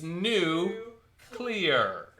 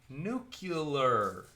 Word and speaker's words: nuclear: me say it alone it's new clear not nuclear everybody mispronounces that that was actually in